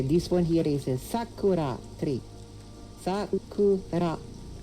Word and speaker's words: Sakura: This one here is a Sakura. Sakura. Sakura. Sakura. The emphasis would be on the first syllable.